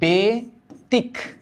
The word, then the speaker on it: ব্যতিক্রম: এবার কি এবার ব্যতিক্রম এটার উচ্চারণ কি এটার উচ্চারণ হচ্ছে বেতিক বেতিক ক্রম ব্যতিক ক্রম না